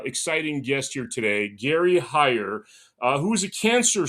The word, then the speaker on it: Heyer: Uh, today I have a very special guest, Gary Hire. Right, that's how I uh pronounce it.